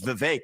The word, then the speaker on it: Vivek: open up I say my name's Vivek it rhymes with cake it ain't about thee